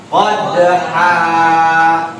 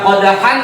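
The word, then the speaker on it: قدحا: Ketika huruf akhir lafaz diwakafkan, maka tanwinnya hilang, hurufnya dibaca panjang. Bagaimana cara bacanya? Qadha. Bagaimana cara bacanya? Qadha. Dibaca qadhan apa qadha ketika diwakafkan?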